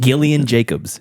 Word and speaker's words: Gillian Jacobs: I think Jacobs Gillian her name is Gillian are you sure it's not Gillian yeah it is it's Gillian okay I mean it's very strange but it's true I mean she she's yeah it's pronounced Gillian Gillian Jacobs I I'm not saying